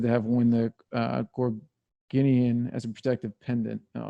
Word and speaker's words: Gorgonian: How do you pronounce that? Gorgon. It was a Gorgonian. Gorgonian.